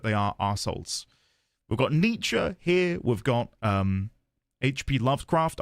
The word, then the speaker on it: Nietzsche: I'll Google the pronunciation because I've never had to say the guy's name out loud. Nietzsche.